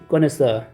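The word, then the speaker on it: connoisseur: ये भी French origin का वर्ड है गोमे, और ये इसको हम बोलते हैं कॉनेसर।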